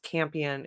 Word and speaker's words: Campion: But her last name is spelled Campion, is like champion without the H.